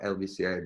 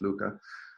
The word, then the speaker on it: LVCA: Luca, but spelled LVCA, the V being the Latin U. So it's just basically just my name, and people say it's like LVCA, but it's pronounced Luca.